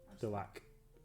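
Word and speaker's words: Delaque: Delac.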